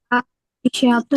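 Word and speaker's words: عائشةُ: bacanya Aisyah Aisyata Aisyata Aisyatu Aisyatu Aisyatu Aisyat Jami jam jamilatun jamilatun. Kenapa aisyatu? Kenapa enggak ditanwin? Karena isimnya isim gir iya karena isim ismadzi yansari naam.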